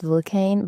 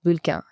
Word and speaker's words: Vulcain: Actually, in English, it's Vulcain, but in French, it's Vulcain, yeah. Vulcain. Sounds much better in French.